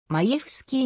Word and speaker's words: Majewski: の元野球選手正式な発音はまいえふすきーに近い 2002 年にドラフト